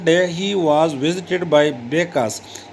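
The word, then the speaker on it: Bacchus: One day he was visited by Becas. Pronounce मतलब है कि इसका तलफ़ुज़ बेकास, ये इस तरह इसका तलफ़ुज़ हम इस तरह करते हैं.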